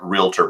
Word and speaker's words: realtor: want to take that realtor brand which is so valuable and elevate it in the minor consumers where there's a reason that real tor is pronounced like doctor we're high level we're